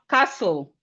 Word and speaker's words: castle: We have castle. That's the second one. This is castle. Castle. The T in castle is silent.